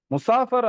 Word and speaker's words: முசாஃபிர்: முசாஃபிராக இருக்கிறோமா? அப்படிங்கிற விஷயத்த பார்க்கணும். இப்ப சஃபர்ல இருக்கிறவங்க, சஃபர்னா என்ன? பயணம். சஃபர்ல இருக்கிறவங்களுக்கு என்ன பேரு அரபியில? முசாஃபிர். இப்ப நெறைய முஸ்லிம் ஊர்கள்ல முசாஃபிர், இத வந்து முசாஃபர், முசாபர் அப்படின்லாம் உச்சரிப்பாங்க.